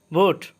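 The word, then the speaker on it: boat: বোট অর্থ নৌকা, টি এর উচ্চারণ ঠ হবে, বোট অর্থ নৌকা।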